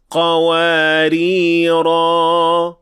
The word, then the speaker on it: قَوَارِيرَ: So if we stopped at these 2 words, we will pronounce the alif in the first, but not in the second. وَأَكْوَابٍ كَانَتْ قَوَارِيرَ قَوَارِير.